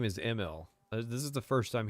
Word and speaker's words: Emil: He pronounces it Emil. Yeah, that's what I like. Todd said it somewhere, and I was like, wow, I didn't know that it was pronounced that way.